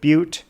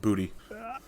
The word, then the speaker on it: Butte: great mining city of Butte a couple weeks ago. It's pronounced booty. Oh, I thought you were going to say butt. That's usually the joke you make. But.